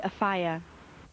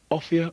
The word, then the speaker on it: Offiah: my name's an and I think it should be a fire Martin a fire a fire it should be Martin off off a fire a fire should I insist that everyone pronounces my name properly or play along and be known for the rest of my life as Great Balls of Fire offia or a fire option one or option